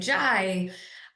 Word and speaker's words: Yai: And even though people still have trouble pronouncing Jai, I like it better than the full.